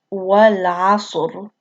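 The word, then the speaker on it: والعصر: letter right here, and before that letter with sukoon is a letter that has fatha right here. And then it becomes heavy. So it's pronounced wal asr.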